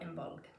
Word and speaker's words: Imbolg: in Modern Irish, but as far as I know, most C's in Old Irish would actually be pronounced as a G, not a C.